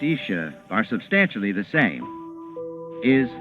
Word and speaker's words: Isa: The words Jesus and Isa, pronounced Isha, are substantially the same.